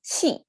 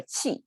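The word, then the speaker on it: 气: It's pronounced as qi. So everything is falling tone today with an E at the end. So this one in particular, qi.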